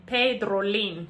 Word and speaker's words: Pedrolin: So at the end, it's not an M, it's an N, Pedrolin. So normally if you want to say my name correctly, you have to be a little bit faster when pronouncing it.